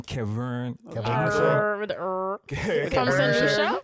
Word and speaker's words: Keverne: But yeah, Keverne, not Kevin, Keverne. Keverne. Silent. Yeah, the E at the end is silent.